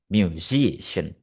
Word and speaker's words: musician: From the base word music and the suffician uh the suffician attracts stress to the syllable before before it musician.